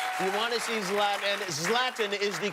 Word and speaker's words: Zlatan: on April 28th you want to see slapping slapping is the correct pronunciation yes love them thank you very much